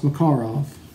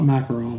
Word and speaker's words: Makarov: here on the list is the macabre it's pronounced McCarl not Makarov like we pronounce it here so the proper